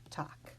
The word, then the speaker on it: Tag: Here's the German word for day. This final G will be pronounced as a K. Tag.